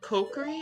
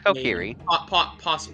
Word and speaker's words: Kokiri: people say isn't it isn't it cookery I'm like no no no no no it's Kokiri possibly but like I have